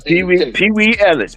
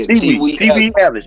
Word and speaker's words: T. Wee Ellis: Say it again, Pee Wee Ellis. Pee Wee Ellis, did I say it right? No, T. Wee. T. Wee. Yeah, T. Wee Ellis.